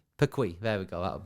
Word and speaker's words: Perquis: How do you pronounce that? Perquis? Perquis.